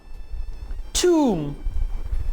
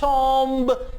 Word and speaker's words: tomb: tomb, T-O-M-B। आमतौर पे आपके इर्द गिर्द लोग इसे टॉम्ब कह के प्रोनाउंस करते हैं, जो कि इंतहाई गलत है।